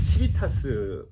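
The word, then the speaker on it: civitas: 치비타스, 그러니까 국민의 정당한 분노가 아니라 시민의 정당한 분노로 저는 얘기를 하고 싶어요. 치비타스는 원래 라틴어 발음인데. 그렇죠. 불어도 치비타스입니까? 치비타스라고 얘기해가지고 뭐 라틴어니까요.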